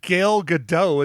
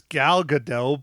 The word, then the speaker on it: Gadot: It's not Gail Gadot, it's Gal Gadot, but it's Gail Gadot.